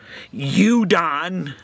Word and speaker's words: udon: U is for you done noodles. Am I pronouncing that right? Udon, that's a capital U, and lowercase D-O-N. Udon noodles.